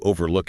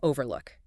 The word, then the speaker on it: overlook: So if you miss a detail, you overlook it, and the emphasis is on the second syllable. Exactly. But if you're talking about a scenic spot with a view, you'd say overlook, with the emphasis on the first syllable.